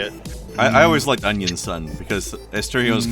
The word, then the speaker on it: Onision: But there's going to be a lot more Onisions in the military these days. Oh yeah. Unfortunately, Sorry, my mistake. We're pronouncing it wrong. It's Onion Son.